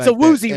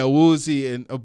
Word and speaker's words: Awuzie: It's like Awuzie, right? Yeah, Awuzie, but the English pronounce Awuzie.